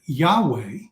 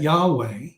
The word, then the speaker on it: Yahweh: scriptures you see that Yahweh how we pronounce y-h-v-h or y-h-wh okay we pronounce that Yahweh but that Jehovah is